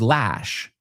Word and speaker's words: lash: The second word is lash. So voy a decir las dos juntas, lush lash. Uh ah uh ah. Si quitamos todo lo demás, esos nos quedamos con el sonido vocales uh ah.